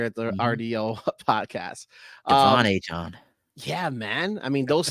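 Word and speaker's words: Achane: Oh, I heard there's a new way to pronounce it now. Right. Mr. Devon Achon. Is it Achon. Achon? He wants, Achon.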